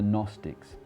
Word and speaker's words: Gnostics: group called the gnostics it's got a silent g in english in greek where this word comes from gnosis you'll hear that i said gnosis the g is not silent in fact in greek there's rarely if any silent letters the gnostics from the